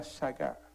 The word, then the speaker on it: shagah: La palabra shaga dice extraviarse o errar.